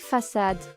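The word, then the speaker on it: Façade: Have you played Facade? No, I have not. It's pronounced the French way in English too.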